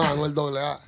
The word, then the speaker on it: Anuel AA: Am I saying it right, or is it Anuel AA? No, Anuel AA.